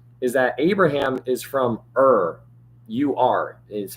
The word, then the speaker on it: Ur: in your mind, is that Abraham is from Ur. U-R is how you spell it.